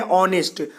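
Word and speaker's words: honest: second point है की कोई भी शब्द इससे शुरू हो लेकिन उसका उच्चारण आगे की तरह ना होकर हा का मतलब क्या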